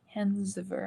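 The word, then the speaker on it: Hans Wehr: It's a German. I believe I'm saying it right. Hansver.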